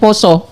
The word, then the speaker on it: Pasa: Adanya bulan tulisannya pasah tapi dibacanya poso.